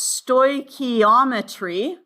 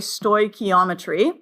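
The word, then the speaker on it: stoichiometry: were away on Friday it is pronounced sto ometry okay sto ometry and basically it is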